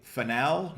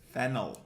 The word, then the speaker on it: fennel: How do you say finel? No, it's fennel.